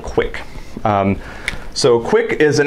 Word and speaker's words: QUIC: built on top of TCP is something called quick um so quick is an application Level protocol